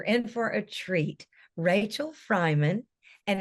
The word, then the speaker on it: Freiman: Rachel Freiman, and it's spelled like Freeman, just so everybody knows, but it's Rachel Freiman is here with us.